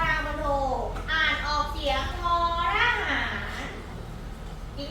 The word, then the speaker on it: มณโฑ: ท ท เียง ท มณโฑ และ มณฑล มณโฑ และ มณฑล ท เล่น กล ออก เสียง ทอ ท เล่น กล ออก